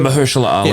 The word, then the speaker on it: Mahershala Ali: Mahershala Ali.